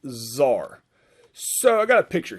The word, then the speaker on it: czar: it's spelled c-z-a-r like kazaar but it's pronounced zar so i got a